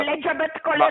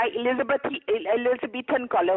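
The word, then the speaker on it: Elizabethan collar: एलिजाबेथ कॉलर नहीं होता, एलिजाबेथन कॉलर होता, आपको तो प्रोनाउंस करना भी नहीं आता।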